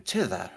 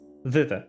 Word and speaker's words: thither: but I could find Granny Nightshade in Tither, right? Thither, yes.